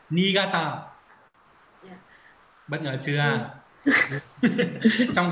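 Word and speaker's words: 新潟: xin Không, không xin, cái này nó không đọc là xin đâu. Niigata.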